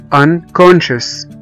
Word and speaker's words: unconscious: السي جه بعد منها على طول a a، فنطقنا السي e a كأنهم حرف الشين، ocean، ocean او محيط. وزي كلمة unconscious، unconscious او فاقد الوعي، u n c o n s c i o u s.